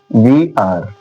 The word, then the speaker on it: weir: ध्यान दीजिए, एग्जाम्पल देखिए, ई आई आर D, beard, beard, beard, WEIR, वी आर, वी आर।